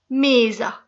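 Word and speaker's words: mesa: तो केइसु, एओमा मेजा, क्योंकि ये एंड ए पे हो रहा है इसलिए एओमा मेजा। एस का साउंड जो है वो जा का प्रोड्यूस होता है।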